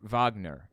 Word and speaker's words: Wagner: doing the coup were the Wagner group or Wagner as it's pronounced I think actually led by a Russian